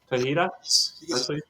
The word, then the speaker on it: Tejeda: got Henry here today Henry how do you say your last name so I don't butcher that thing the h t e j d a yeah okay we're calling you Henry tahita T yeah and you're